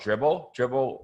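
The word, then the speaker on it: Dribbble: No, these pictures, I get them from this site called Dribble, like dribbling a basketball, but spelled with 3 B's.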